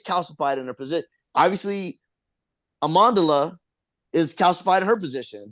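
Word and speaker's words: Amandla: way I think her I think the pronunciation is Amanda what am I saying am amandela Amanda okay sorry amandela amandela amandela thank you um so yeah I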